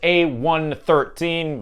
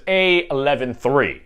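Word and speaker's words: A113: a number of Pixar artists so it's normally pronounced a13 but I cheated a little because you know one and one next to each other kind of make 11 so the correct answer is a 113 if you want to pronounce it that way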